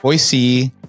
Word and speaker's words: Boise: So pronouncing Boise versus Boise. Boise is the way it's supposed to be pronounced. It doesn't ring in my ear. I say Boise, but if you go down there and you say Boise, they know you're not from there.